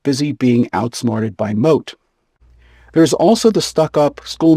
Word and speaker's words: Moth: There is also Don Adrianiano de Armado and his trusty page boy whose name is spelled like moth but is pronounced moat.